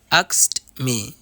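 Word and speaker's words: asked me: তবে সেই ক্ষেত্রে ভার্বের পাস্ট পার্টিসিপল ফর্ম এর আগে যদি কে ধ্বনি থাকে, অর্থাৎ সেই ক্ষেত্রে কে ধ্বনিটি বাদ যাবে, অর্থাৎ কে এর উচ্চারণ হবে না।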